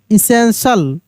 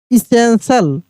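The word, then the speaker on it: essential: E double S ई एन टी आई एल एसेंशियल एसेंशियल देख रहे यहां पर टी आई ए है टी के साथ क्या है?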